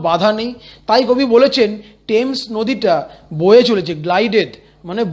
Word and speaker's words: Thames: Westminster ব্রিজের তলা দিয়ে যে রিভারটা বয়ে সেটা হচ্ছে টেমস নদী, THAMES, থেমস। মনে মনে উচ্চারণ করো বানান লেখার সময়, কিন্তু মুখে বলার সময় বলবো টেমস।